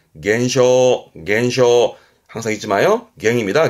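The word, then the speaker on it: 減少: 발음은 겐쇼 겐쇼 항상 잊지 마요.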